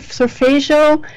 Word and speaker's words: solfeggio: Like, is it solfeggio?